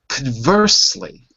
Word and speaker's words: conversely: Conversely. Conversely. Now you. Conversely. Conversely. Conversely. Okay. Good. Remember, it's con, the first syllable.